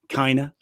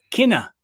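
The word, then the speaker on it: Cinta: us both chad on the uh kinder uh pronunciation says uh it's kinna kinna but then glenn says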